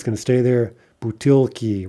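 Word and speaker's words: бутылки: Butilki, right, is bottles.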